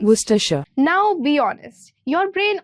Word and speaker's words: Worcestershire: This is how it is pronounced. Worcestershire.